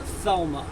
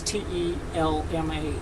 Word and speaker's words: Telma: Telma, or some people write it out, pronounce it Thelma. But when I received it, it was Telma, Telma.